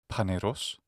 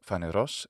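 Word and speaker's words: φανερός: Phanerozoic comes from the ancient Greek Phaneros, visible, and ζωή, life. By the way, I'm using the classical Attic pronunciation today. Modern Greeks pronounce these words Phaneros and ζωή.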